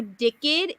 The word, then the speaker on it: Dicked: That is not how I read the title of that book. Me either, honestly. It's spelled like with a hyphen. Okay. Oh. So it would be DICK-ED.